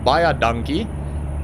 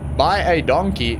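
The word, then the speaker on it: baie dankie: because it basically yeah buy our donkey is how we say it in Afrikaans buy a donkey but yeah I mean buy a donkey is so damn close that any South African would understand what you saying they would sort of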